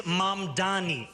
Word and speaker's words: Mamdani: The name is Mamdani, Mamdani.